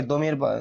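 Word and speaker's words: ضمير: নামের পরিবর্তে যে ব্যবহার হয় তাকে দমির সর্বনাম বা দমির বলা হয়। দীমি ইয়া র দমির। তো এটা আমাদের দেশে প্রচলিত আছে একটা গলত মাসর যে দকে জ উচ্চারণ করা এটা নিয়ে অনেকের সাথে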